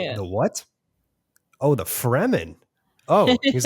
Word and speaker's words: Fremen: And he was like, I always thought the Freemen were really interesting. And I was like, Yeah. the what? Oh, the Fremen. Oh, he's like, you call it Freeman? It's like, no, it's one E. Yeah. Fremen.